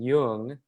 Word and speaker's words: Duong: the grocery store and i heard over the intercom jung which is the correct pronunciation like come to the